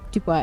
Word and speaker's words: Dubois: Dubois is a French name. Yeah, it doesn't have an E on the end. Yeah. Yep. But if it did have an E on the end, you would pronounce the S.